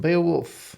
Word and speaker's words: Beowulf: Yeah, this is from Beowulf.